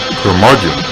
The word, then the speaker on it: Curmudgeon: Curmudgeon rhymes with bludgeon.